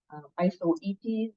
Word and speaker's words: Isoetes: Isoetes is how you say that.